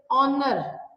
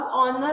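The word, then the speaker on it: honour: हर वो वर्ड जो basically A ई आई ओ यू के साउंड से शुरू, जैसे ऑनर. अब ऑनर अगर हम उसकी स्पेलिंग देखें तो एच से स्टार्ट हो रहे हैं, ऑनरेबल.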